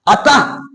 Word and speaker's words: अतः: उच्चारण करते हैं ना, उसमें ह की ध्वनि छिपी रहती है। जैसे क्या गया, अतः। हम जब क्या बोलते हैं अतः, तो देखिए ह निकल रहा, अतः ह निकल रहा।